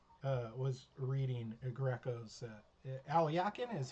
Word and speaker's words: Alekhine: And for that matter, Alyakin was reading Greco's. Alyakin is how you pronounce Alekhine, by the way.